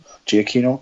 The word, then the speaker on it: Giacchino: by how do you pronounce his name? Is it Giacchino. Giacchino.